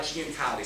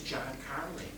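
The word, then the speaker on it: Giancarlo: food Italian now uh G how do you say that in Italian uh Gan Kali so G in English GN K that's how I say it uh but again it turns out he told me in Italian it's John Carly and I had a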